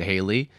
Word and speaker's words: Hallie: Sometimes people pronounce it Haley, but like, this is a situation where, it's an English situation where you just have to be told. You gotta but Hallie is how I would pronounce that.